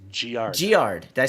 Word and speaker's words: Giard: I did a correct your pronunciation. It's Giard.